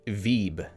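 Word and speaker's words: Vieb: one already vibe is pronounced like deep with a v and rhymes with sheep so it's actually veeb i i agree with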